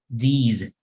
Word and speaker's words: these: Okay, so this word we would say these. These. Okay, la S, aunque hay una S, en realidad pronunciamos como Z.